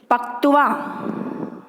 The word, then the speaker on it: पक्त्वा: पूरा तय तो बनेगा पकत्वा। ये शब्द नहीं है, इसका शुद्ध उच्चारण है पक्त्वा, ठीक है।